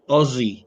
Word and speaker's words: Aussie: it's they pronounce it aie like with the the s's sound like Z's rather than is aie